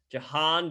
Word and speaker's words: Jahan: the name shocker the prince is wrong with pronouncing a name jahan dotson you got it man johan dotson hey